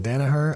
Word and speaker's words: Danaher: Danaher. I love people's names that are pronounced exactly like they look.